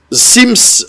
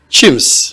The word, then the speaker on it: Chims: je reçois un professeur, Sims, voilà, c'est ça? Chims. Wow. Mais ça s'écrit avec C.